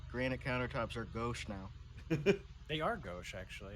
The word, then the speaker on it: gauche: Maybe someone was listening to me talking about how granite countertops are gauche now. They are gauche actually. It's called about quartz. Pronounced goosh, you guys.